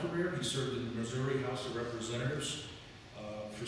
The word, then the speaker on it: Missouri: whether my students will relate to this whether Missouri is pronounced Missouri or Missour so uh he may have some